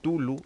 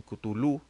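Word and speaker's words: Cthulhu: esa es la situación algunos dicen tulu algunos dicen kutulu algunos dicen catu tulu entonces en realidad el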